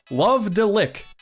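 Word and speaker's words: Love-de-Lic: The Tingle Resurgence comes to us from Vanpool, a company including employees from a defunct developer, Love Deick. Yep, that's that's how you pronounce it.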